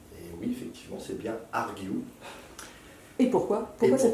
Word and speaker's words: Argue: Et oui, effectivement, c'est bien Argue. Et pourquoi cette prononciation à l'anglaise? Parti pris de le prononcer à l'anglaise.